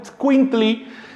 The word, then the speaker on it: itzcuintli: Pero en náhuatl es itzcuintli, con pronunciación débil de la primera i, casi como si dijera itzcuintli, así.